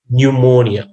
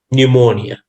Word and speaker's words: pneumonia: pneumonia spelling of pneumonia it starts with p and n e u m o n i a so it's pronounced pneumonia so you have to